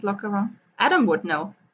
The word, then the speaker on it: Lochcarron: Looks like Loch Aaron. Loch Aaron. Loch Loch Karen? Okay. Loch Aaron. Sounds so much All better. one word.